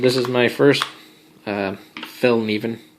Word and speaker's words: Fällkniven: is my first uh Fel Neen as I believe it's pronounced um I don't not 100% sure I'm not really Swedish but uh I've heard that it was pronounced F NE but at any rate